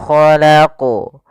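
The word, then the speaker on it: خَلَقَ: memantulkan, atau yang kedua menambah hamzah. Misalnya khalaq, atau misalnya khalaq, khalaq. Nah, itu menambah hamzah, harusnya tidak. Tapi bagaimana yang betul adalah min syarri ma khalaqu.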